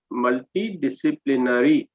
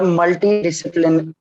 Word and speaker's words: multidisciplinary: and you mispronounced multidisciplinary. Okay, that correct Okay, correct sir. Yes, pronunciation is sir. multidisciplinary. Say it Okay, sir. from your side. How will you pronounce? Sir, multidisciplinary.